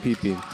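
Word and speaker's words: VPIP: thing Kelly Shield says real question is it pronounced Pi pie pee or Pipi I've checked on this and it is pronounced PP orbit here from Henry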